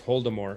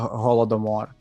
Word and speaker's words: Holodomor: guy in uh it's like voldemort but it's holdemore it's like that harry potter yeah well it's like it's actually it's like an american uh pronunciation it's actually a holodomor um yeah yeah with yeah with the hard